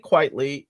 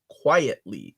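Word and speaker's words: Quitely: Vincent Dean baby so Frank quitly is a play on Frank quite frankly but people pronounce it quietly quietly quietly I can see that because you see the the letters together and in your brain you're like that says quietly that's how brains read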